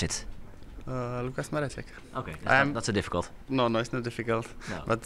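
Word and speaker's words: Mareček: How do I pronounce it? Lucas Maracek.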